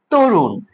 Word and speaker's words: তরুণ: তারপর কি আছে যে তরুণ না তরুণ উচ্চারণ কিন্তু হবে তরুণ কারণ এখানে ওকারান্ত হবে কারণ ত এর পরে